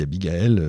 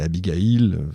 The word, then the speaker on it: Abigail: J'ai dit Abigael, c'est Abigail, on prononce comme on veut parce que ce qu'il attend à Philadelphie n'est rien de moins qu'une réunion inédite.